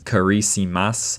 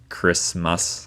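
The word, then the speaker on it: Kiritimati: The island is listed as Kiriti Mati, but I remembered that you're supposed to pronounce the ti as s. So I was pronouncing as karice, but it's actually just Christmas island Christmas.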